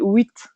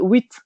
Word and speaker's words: huit: mais les gens disent huit au lieu de dire 8, le chiffre 8, ils disent huit. Donc ils prononcent un oui avec un T à la fin et ça, c'est vraiment